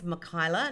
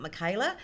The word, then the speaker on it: Mikyla: People say my name wrong. It's Mikyla, not Mikyla.